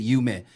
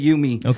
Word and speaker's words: Yume: Well, Yume is a Japanese word for dream. Oh, okay. Yume. They pronounce it Yume.